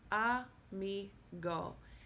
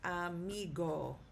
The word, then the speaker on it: amigo: A migo. And the stress is on the second to last um syllable. So it is pronounced amigo.